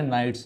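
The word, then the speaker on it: knights: है special skill के silent है यहां पर जैसे हमारे नाइट्स में के एन आई जी एच टी एस नाइट्स मतलब कौन सी योद्धा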